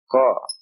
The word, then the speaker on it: Qaf: Another difficult one. Qa. It is represented by the English Q. Qa. It's a heavy K. Qa. Again from the throat. Qa. A heavy K. Qaf. The name of the letter is Qaf.